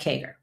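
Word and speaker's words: CAGR: Number four is historical kagger. Compound annual growth rate. Y'all have seen that. C A GR. All right. In accounting, we pronounce that KGER.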